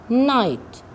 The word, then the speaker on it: night: Here the GH is silent. Lights, night, straight.